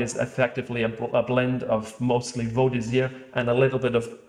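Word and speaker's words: Vaudésir: Vaux d'Isère. Man, I would have totally butchered that name. I would have said Vaux d'Isère.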